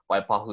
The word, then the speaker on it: Waipahu: down to Waipahu there's places like that too Waipahu is just pronounced Waipahu are there any other specifics or